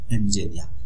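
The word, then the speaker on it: エンジニア: ভাষা জাপানি ভাষায় এসেছে ইঞ্জিনিয়া, এনজিনিয়া, এই যে উচ্চারণটা আমি দিয়েছি এনজিনিয়া মানে ইঞ্জিনিয়ার।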